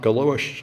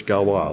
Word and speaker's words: Galois: It's French, it's not Galois. Apparently it's Galois.